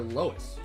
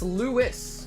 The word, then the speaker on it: Lois: Is it Luis or is it Lois? I have a feeling it might be Lois. Now I need to know. It's pronounced Lewis.